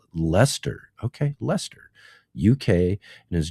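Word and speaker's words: Leicester: Good day from Lancaster or or pronounced Lester.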